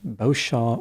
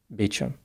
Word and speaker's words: Beauchamp: The way her last name is spelled, it would usually be pronounced Beauchamp or Beauchamp, but not in this instance. Instead, she pronounced it Beauchamp. Eventually, the Beauchamp family moved to Folsom, then to Monterey.